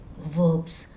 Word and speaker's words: verb: In English grammar, we call these actions or action words as verbs. The spelling of verb is V-E-R-B, verb. But we pronounce R as silent, so verbs.